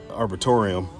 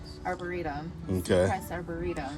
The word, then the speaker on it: arboretum: could spread your love we're back at the arbitorium arboretum yeah they got on me last time i tried to pronounce that that word we googled it so